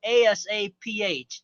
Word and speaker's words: Asaph: That is spelled Asaph. That's my first name. The PH has an F sound.